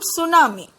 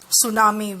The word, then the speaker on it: tsunami: Let's learn about tsunami. In this word tsunami, letter T is silent.